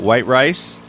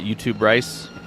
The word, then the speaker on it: White Rice: Right behind Aloy, we have White Rice. That's how it's pronounced. I asked him. It is not YouTube rice.